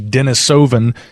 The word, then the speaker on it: Denisovan: pronunciation of the name I'm going to use the more popular pronunciation from here in North America that would be Denisovan but as you pointed